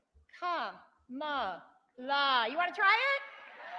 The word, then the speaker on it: Kamala: go back home, and then she goes, Kamala's got 3 syllables.